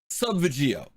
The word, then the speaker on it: Subvegio: and you know what sub veggio let's just say it is that's how you pronounce it that's how you